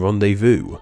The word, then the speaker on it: rendezvous: X in foe, and a silent Z in rendezvous.